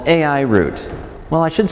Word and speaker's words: Root: company's name yes it's it's root like the foot of a tree like the foot of